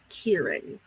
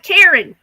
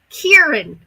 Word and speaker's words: Kieran: So that's how you spell it, and you say it Kieran. I'll try to remember that. I've been calling that poor boy Kieran. Kieran.